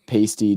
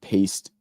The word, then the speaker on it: pasty: The pasty, not paste.